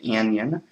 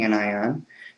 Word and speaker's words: anion: negative ion an anion people always mispronounce in an onion it's an anion again you know the